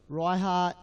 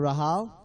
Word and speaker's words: Raiha: It is Raiha Ensor instead of Rahal.